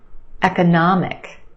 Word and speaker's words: economic: in some longer words try this one economic economic we've got four syllables the third syllable is your stressed syllable nah the ah sound economic and we have a